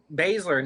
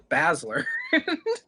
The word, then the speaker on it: Baszler: Baszler, not Basler.